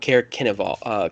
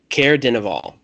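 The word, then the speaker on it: Caer Dineval: Caer Kenival. Kenival. It's I'll spell it for you. Hold on. I got close enough. Yeah. Well, close enough. Caer Denival.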